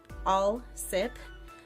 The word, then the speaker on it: Alsip: word for word here my name is Alsip pronounced all sip my wife's name is